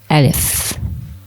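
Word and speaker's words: ألف: The pronunciation is Alif.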